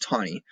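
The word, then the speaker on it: Taney: court rules Chief Justice Roger B tani and that is pronounced tiny wrote the courts opinion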